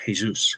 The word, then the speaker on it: Jesus: ups at Forest, who advised me it was Jesus, because I didn't know whether it was Jesus, Jesus, but I was told Jesus, Igor Jesus.